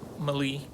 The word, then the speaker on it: Meli: name and it's called malia i think that's how you pronounce it so we uh looked it up and it's actually mali and um it's an